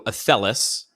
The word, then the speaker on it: Athelas: So Athelis, I'm probably going to say it wrong because...